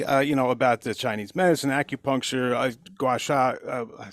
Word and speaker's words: gua sha: you tell everybody, about the Chinese medicine, acupuncture, gua sha? I said it wrong. How do I say that one? Yeah, no, you said it right. Gua I did? sha. Oh, gua sha.